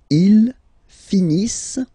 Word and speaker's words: finissent: Ils finissent. So remember, as usual, when we get the verbs E-N-T, not pronounced. Ils finissent. Elles finissent. Alright, so let's see them one more time.